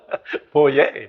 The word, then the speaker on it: Poirier: Poirier.